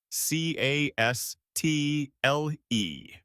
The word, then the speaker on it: castle: And the word castle. C A S T L E. The T is silent. You say castle.